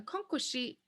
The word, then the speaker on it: akankoshi: Now we find out that a akankoshi has 4 syllables. A, kan, ko, shi. Akankoshi.